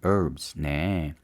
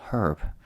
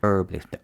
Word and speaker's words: herb: 있어요 뭐에 대해서 growing herbs네 허브 기록이 되겠습니다 허브가 h 시작해서 her 노노 미국식 영어 발음은 h 발음 안 해요 브 할 땐 그래서 합니다 영국 식은 발음해요 herb 그러나 우린 미국식 영어를